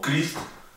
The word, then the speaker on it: Christ: La CH es un poco más complicada al estar adelante de la palabra, como en los casos de la palabra caos o Christ, que significa Cristo, se pronuncia como una K.